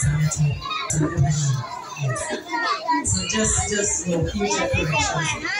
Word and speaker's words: Zenato: My name, the correct pronunciation of my name is Zenato.